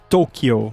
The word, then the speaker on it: Tokyo: tudo mais, mas é, a pronúncia seria mais como Tokyo, né? É um o mais comprimido, sei lá, é quase como um acento circunflexo, mas na real tanto faz porque eles não escrevem assim, né?